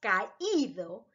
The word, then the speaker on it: caído: You must pronounce the I. Caído, creído, leído, oído, reído, sonreído, traído. Because they have a tilde, and that makes it a strong sound.